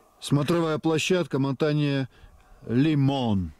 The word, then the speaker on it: Лимон: смотровая площадка мотание лимон ударение на последнее о лимон Вот вот как раз